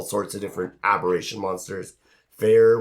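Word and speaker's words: Feyr: Fair, which pronounced fear. Yeah. Spelled F-E-Y-R, but pronounced fear.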